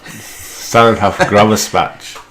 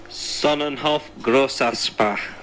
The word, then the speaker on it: Sonnenhof Grossaspach: Sonnenhof Graverspach. It means 2 S's, so I'll let Tim. What? Let Tim take it away. Sonnenhof Grossaspach.